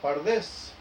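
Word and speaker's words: פרדס: Dice, la primera letra de cada palabra, pardes, P-R-D-S, porque no se usaban vocales, se toma y las vocales se agregan para la pronunciación, dando la palabra pardes, lo que significa jardín o huerto.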